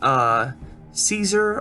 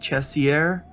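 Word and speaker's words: Cesare: called Project black t-shirt um his name's Adam chessy err I believe it's how you say his name um I see people say a Caesar a lot and that would make sense because that's how his name is spelled but I was corrected on Facebook and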